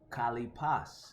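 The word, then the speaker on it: χαλεπός: Kalipas is how you say it in the Greek.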